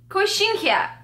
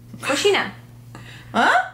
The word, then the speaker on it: coxinha: Kinkia. Coxin coxinã coxinha coxinha coxinha coxinha.